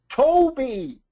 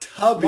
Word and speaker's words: Toby: Toby. That's right. Not Tubby. Not Tubby. Toby.